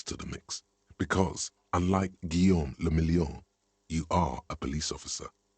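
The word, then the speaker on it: Guillaume Le Million: meant only one thing guillaume lamillion what does that mean if it doesn't rhyme you're not pronouncing it right out of the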